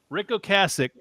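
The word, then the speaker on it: Ric Ocasek: Rick O Cassich produced a couple of albums of this band. And a lot of people don't realize that Ricko Cassich was an amazing producer.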